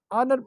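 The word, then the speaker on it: honour: हम अगर इसको हावर प्रोनाउंस करें या होनर प्रोनाउंस करें तो this to pronunciation would be completely wrong, ये प्रोनाउंसिएशन हमारे पास गलत है। हम इसको आर या आनर जो है वो प्रोनाउंस करेंगे, इस दोनों वर्ड्स को।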